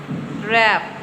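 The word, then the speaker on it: wrap: Road road रैप रैप। इसमें भी हमने आर ए पी रैप बोला है। लेकिन राइट करने के लिए हम डब्ल्यू का यूज़ करेंगे। ठीक है? ये सब डब्ल्यू के साइलेंट है।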